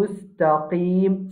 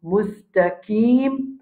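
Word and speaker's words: مُسْتَقِيمَ: Après ça, nous avons mustaqim. Ça, qaf là, nous avons tendance à lire comme un kaf. Il y a beaucoup de dire al-mustaqim. Mustaqim va exister.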